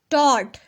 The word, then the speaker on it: taught: Kurt had taught, taught, taught, GH इसके spelling में मौजूद है लेकिन इसको बोलना नहीं है। Taught.